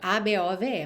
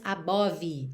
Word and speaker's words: above: A-B-O-V-E, mas você não diz above e muito menos above, ok? Esse E final não é pronunciado e o O do meio não é realmente um O, above, e sim above, above.